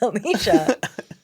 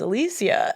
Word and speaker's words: Alicia: She was like, a lot of people think my name's Alicia, but it's Alicia.